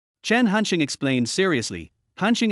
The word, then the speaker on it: Hansheng: Hansing is pronounced similarly to the English letter handsome which means handsome.